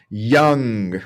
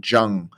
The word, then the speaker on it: young: down attorney yeah exactly so young that with that why sound young I once had a correct an attorney uh because it sounded like down like you were saying and then sometimes often yeah Jung like uh almost like they're talking about the philosopher now the next I